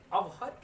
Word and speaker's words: avert: अवर्ट जो word है, अवर्ट, अवर्ट, ये जो वर्ड है इसमें आर साइलेंट होता है।